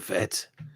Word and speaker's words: Fett: my name is fett she says i say the last name wrong it's not as in v-e-t it's fett which is correct yeah anyway are you